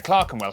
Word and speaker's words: Clerkenwell: ER is pronounced R. Berkshire, Clerkenwell, Hertford.